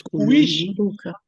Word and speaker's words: kuishi: No, there's kuishi.